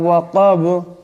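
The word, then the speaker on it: وَقَبَ: ইজা ওয়াকাব। ওয়াকাব এখানে বা সাকিন হবে, দম সালে বা সাকিন হয়ে যাবে, বা কলকলা হরফ, ঔষধের টক্কর খাবে।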